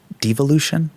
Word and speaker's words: devolution: They go to this thing called devolution. Am I pronouncing that correct? Dean, it's evolution with a D in front of it.